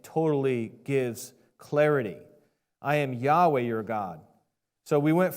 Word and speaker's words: Yahweh: Scholars they say that the ancient VAV is pronounced like a w sound so instead of saying yah they say Yahweh okay I don't have